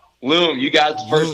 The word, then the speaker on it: L.U.M: Now I may be saying it wrong, but is it Loom or Lum? Loom, you got it the first Loom, time.